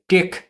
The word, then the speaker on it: TeX: নামটি আদতে গ্রিক অক্ষর তাও এফসিলন এবং খি অক্ষরের বড় হাতের রূপ। টেকনোলজি শব্দের শুরুতে আমরা এই তিন অক্ষর দেখতে পাই। টেক শব্দটি গ্রিক ভাষায় আর্ট অর্থ নির্দেশ করে। ডোনাল্ড কনুথের নির্দেশিত উচ্চারণ মাফিক আমি এই ভিডিওতে আদি গ্রিক উচ্চারণ ব্যবহার করছি।